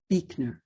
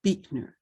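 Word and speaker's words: Buechner: ordained presbyterian minister frederick beekner who passed away at the age of 96 i believe it is pronounced beekner even though it is spelled b-u-e-c-h-n-e-r i did look it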